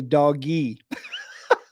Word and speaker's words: DOGE: department of government efficiency I'm hearing them saying it's Doge but I like to say doggy it's much easier for me to remember dog e instead of Doge but uh that's going